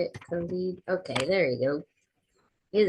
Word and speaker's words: Khalid: Khalid.